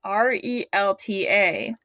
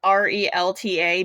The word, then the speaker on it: RELTA: Alright, so before he starts to discuss about the developer Q&A on R.E.L.T.A. Okay, so I'm really sorry I pronounced it like R.E.L.T.A.